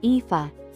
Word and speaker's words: Aoife: Her name turned out to be Aoife, pronounced Aoife, which I was glad to learn before attempting it.